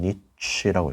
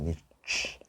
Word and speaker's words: niche: 해서 읽을 때 어떻게 하냐면 niche라고 읽어요. niche 또는 niche라고도 읽습니다.